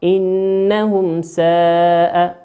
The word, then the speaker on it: إنهم ساء: كيف تنطق؟ إنهم ساء. تنطق كما هي بكل وضوح من غير إدغام أو إخفاء.